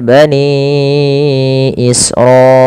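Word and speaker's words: بَنِي إِسْرَائِيلَ: Kemudian pada lafal bani israilah. Pada lafal bani ini panjangkan suara ninya sepanjang lima maaf empat atau lima harakat.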